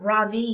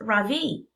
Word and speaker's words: Ravi: stands up really straight my name is not Robbie he says it's pronounced Ravi I'm not going to